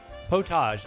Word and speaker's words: potage: It looks like it could be spelled pottage or spelled with one or two T's. Potage.